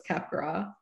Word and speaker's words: Capgras: you are indeed correct it is french in origin so it's capgras um we we won